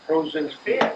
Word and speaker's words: Prozinski: 3 syllables. Prozinski.